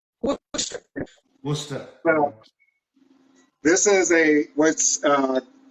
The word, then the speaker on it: Worcester: It's actually Worcester. Worcester.